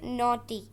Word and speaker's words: naughty: mature, पुख्ता ज़हीन, पुख्ता ज़हीन, innocent, innocent, मासूम, मासूम, naughty, जी इसमें साइलेंट है, क्या पढ़ेंगे? naughty, शरारती, शरारती, proud, proud,